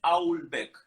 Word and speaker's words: Houellebecq: Houellebecq, mira, acá nos dice, perdóname, Ari Barrio Nuevo, que la pronunciación es Houellebecq.